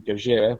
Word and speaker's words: Gojira: changed the name to gojira which is the japanese uh pronunciation of the monster's name and they're one of